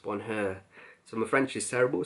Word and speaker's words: Bonheur: So let's start off with one of the fragrances from the first collection, and that one is Bonheur, I believe it's pronounced Bonheur.